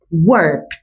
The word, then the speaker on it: worked: Presta atención al sonido. Es diferente. Okay. Work. Trabajar. worked. Trabajé. Yo trabajo. I work. Yo trabajé. I worked. La t al final hace el sonido, no la escritura.